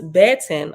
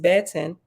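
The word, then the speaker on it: beten: word B10 b-e-t-e-n pronounced baton okay Bet Angela okay the Hebrew word Betten pronounced Betten is a feminine noun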